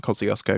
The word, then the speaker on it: Kosciuszko: And I know it's pronounced wrong for the Polish, but we call it Mount Kosciuszko because it's the tallest mountain in Australia.